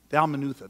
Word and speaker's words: Dalmanutha: you would have thought that was the right pronunciation but it's not Dalmanutha that's it I just said what I said